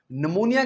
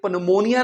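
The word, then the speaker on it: pneumonia: अगर पी के साथ एन आ जाए तो हम पी को अक्सर नहीं बोलते। ये पनमोनिया नहीं है। ये है निमोनिया।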